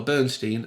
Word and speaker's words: Bernstein: It could be because Elmer Bernstein, and that's how he pronounced it, don't try and correct me, that's how he preferred it.